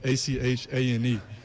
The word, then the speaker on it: Etienne: So growing up, it's Travis Achane, so it'd be like Achane, and that's how you always say Travis Achane.